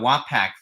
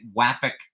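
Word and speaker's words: Wapak: of of the uh wack Foundry and I think I'm finally pronouncing wack correctly after all these years I was calling it wapac or whac but apparently it's more like wac I mean you can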